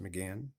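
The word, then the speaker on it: Mégane: against the 2022 Renault Megan and again it is pronounced McGann by the Europeans I'm not sure if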